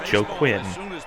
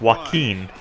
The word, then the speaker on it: Joaquin: that it was Joaquin I thought it was Joe Quinn because that's the way they pronounce a here but it's Joaquin and it actually makes